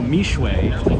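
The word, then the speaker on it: Mixue: So for those of you who don't know, Mishwe is spelled M-I-X-U-E, and it's the largest fast casual brand in the world.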